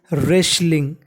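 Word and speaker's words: wrestling: इंग आपको बता दूं अगर कभी आर से पहले डब्लू लिखा है तो उसे हम लोग साइलेंट रखते हैं यानी डब्लू का हम लोग उच्चारण नहीं करते तो क्या बन जाएगा रेसलिंग यहां पर टी भी साइलेंट रहेगा रेसलिंग का मतलब होता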